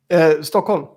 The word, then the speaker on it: Stockholm: the Cubbies thanks but please say say stop on in the proper way stockin okay it's there are